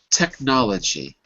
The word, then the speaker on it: technology: Technology. Technology. Okay, because I wasn't hearing the k in technology.